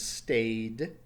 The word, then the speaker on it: stayed: Past tense is stayed. And notice that the pronunciation is a D at the end.